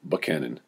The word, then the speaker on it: Buchanan: the delegates finally chose James Buchanan pronounced by many as Buckhannon who was a muscular